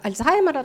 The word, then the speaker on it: Альцгаймер: російський лад їх перекладають наприклад хвороба маєбти альцгаймера тому що це німецьке прізвище е читається як ай е також дозволяє наш